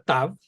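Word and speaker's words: תָּו: En hebreo masorético, cuando lleva el punto interior, se pronuncia T, y cuando no lo lleva, se pronuncia como la combinación inglesa TH, como la Z española en España, no en Latinoamérica.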